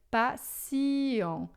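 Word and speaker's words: patient: Então na, por exemplo, em francês a gente escreve com T, mas a gente pronuncia C.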